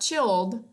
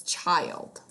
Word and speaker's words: child: It's not it's not chilled, it's child.